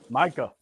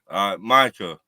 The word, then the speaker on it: Micah: Micah. We gotta say his name right because I want to make sure he stays. Micah.